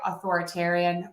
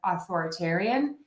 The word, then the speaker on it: authoritarian: I actually say the schwa. I do hear some people say authoritarian, authoritarian. Key is that it's unstressed.